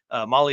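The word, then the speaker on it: Mahle: and for all you podcast listeners out there Molly is spelled m ahle e all right dude show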